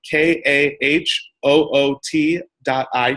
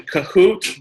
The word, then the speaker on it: Kahoot: you want to go to compute dot it it's spelled ka h oo TI t on your phone we will continue there